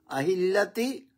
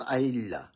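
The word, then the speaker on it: الأهلة: আহিলিল্লাতি এটার সঠিক উচ্চারণ আহিলিল্লাহ।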